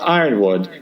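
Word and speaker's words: Yronwode: Kitchen called Gary Goff, the journal publisher, about this guy Cat Ironwood, and Goff replied, "First, Cat is a woman, and second, it's pronounced Ironwood, and third, she did indeed work for the Comics Journal."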